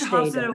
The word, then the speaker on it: Hofstede: Can you pronounce his name for us so we can get it right? Gert Hofstede? Gert Hofstede was, yeah, Hofstede.